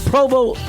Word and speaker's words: Provost: Provost. Provo. I mispronounced it for 20 years.